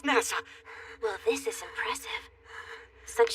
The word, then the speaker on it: Nasa: is nasa yuzuki written as story sky but pronounced nasa well this is impressive such serious injuries and